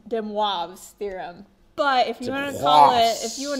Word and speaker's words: De Moivre: uh de theorem de I believe this is French and it's pronounced de wavs theorem but if you